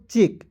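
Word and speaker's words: check: हैं यहां पे देखेंगे सीच का च लिखते हैं और ई का उच्चारण एक एक केले के रूप में प्रयोग करेंगे और सी को साइलेंट करेंगे और के का लिख देंगे क क्या हो जाएगा दोस्तों चेक चेक मींस क्या होता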